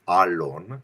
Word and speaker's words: Alon: name so the the the appropriate terminology of how to pronounce it is Alon it's an elated long a but hey I go